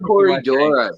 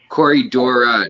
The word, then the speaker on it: Corydoras: i'm sorry doctor and it's pronounced corydora dr anthony corydora no s ever ah so next one